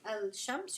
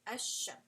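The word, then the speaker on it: الشمس: You're not going to say al-shams, you're going to say ash-shams.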